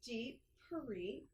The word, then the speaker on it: Deep Parikh: So then we have Deep Parikh. That was so clever of your parents to have a last name that Right? rhymes with your first name.